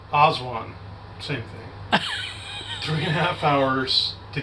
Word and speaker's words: Aswan: We went from Aswag, and then it was like 3. How you say it? Aswan. Aswan.